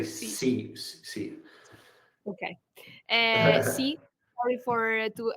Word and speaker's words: Xi: Yeah, so moving to this soybean complex, last week, Donald Trump met the Chinese President Xi, I think it's called. Was the I think you say C.